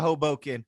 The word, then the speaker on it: Hoboken: Okay, we are headed over to Hoboken. Did I say it right, Wendell? Yeah, we're going to Hoboken.